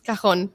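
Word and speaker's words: cajón: It's kahon.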